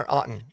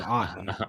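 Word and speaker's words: Outten: Is it Outton or Aton? With I I pronounce my last name Autton. And so, but I spell it with an A and he spells it with a no.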